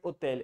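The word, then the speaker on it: hôtel: है अंग्रेजी का होटल, वो होता है फ्रेंच में होटल, एच को पढ़ते नहीं है, तो हम इसको क्या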